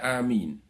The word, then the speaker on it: amin: Cara membaca amin. A. Dibaca sepanjang 2 harokat, sebagaimana membaca mad badal. Min dibaca panjang sekitar 6 harokat, sebagaimana membaca mad arid lisukun.